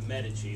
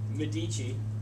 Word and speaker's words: Medici: From the age of 13 onwards, he had had a very close relationship with the Medici, or as the Brits say, wrongly, Medici. It's mispronunciation.